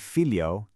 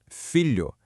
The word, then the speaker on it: filho: Together, they make a soft palatal sound, somewhat similar to the lu in the English word million.